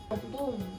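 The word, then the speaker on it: Ompung: dua p sigupong sigupong opung opung itu tulisannya O m p u n g bacanya Opung bacanya Opung he banyaklah sebenarnya contoh-contoh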